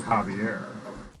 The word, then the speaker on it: Xavier: Just Xavier. But pronounced it Javier.